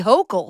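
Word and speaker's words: Hochul: I was drinking a beer with Kathy Hokll.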